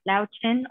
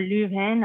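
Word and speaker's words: Löwchen: I share my home with Greater Swiss Mountain Dogs and Lao Chen or Lu Hen or Lo Shen, just depending on how you like to pronounce it.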